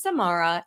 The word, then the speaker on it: Samara: And she came up with, "My name is Samara. It rhymes with tomorrow, but I'll get it to you today."